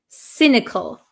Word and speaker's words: cynical: one is cynical cynical remember this is a soft C Sound another sounds like an s cynical cynical and what does